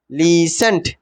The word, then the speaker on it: listen: বানানটা মনে হচ্ছে লিস্টেন, কিন্তু উচ্চারণটা হবে কি? লিসেন্ট, লিসেন্ট, LISTEN, লিসেন্ট। ঠিক আছে?